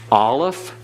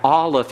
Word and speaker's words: Aleph: So you have Aleph is a silent, and it's called a guttural because there is no sound anywhere. The lips, the teeth, the palate are not involved in the pronunciation of Aleph. It is totally silent.